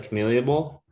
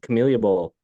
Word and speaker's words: Camellia: Pronounce that for me. It's your bowl. The Camellia Bowl. The Camellia Bowl.